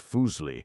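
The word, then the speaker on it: Fuseli: Fuselli pronounced Fooli was a neglected figure of the utmost importance.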